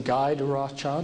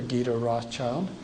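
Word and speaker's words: Guy de Rothschild: Herman and this is you can pronounce his name guide Rothchild or G Rothchild if you want a more French pronunciation ga uh I believe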